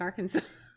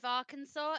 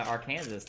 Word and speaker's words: Arkansas: would have to say you know in the state of arkansas it's illegal to mispronounce arkansas people are calling our kansas like polly slander right there i mean